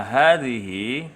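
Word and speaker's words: هذه: Dibaca hadhihi karena sesungguhnya di atas lafadz ha, hadhihi itu harokatnya adalah harokat tegak atau harokat berdiri. Maka dibacanya dengan tekanan.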